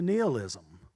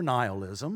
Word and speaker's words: nihilism: So that's why, then, we get into nihilism, or nihilism. I've heard it pronounced both ways. To my knowledge, you're not incorrect either way, but I usually say nihilism.